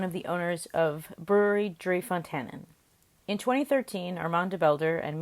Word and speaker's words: Fonteinen: It's Fonteinen. So Fonteinen. So it's a bit more the Fonteinen, a bit more pronounced in a kind of a Flemish or really Dutch way.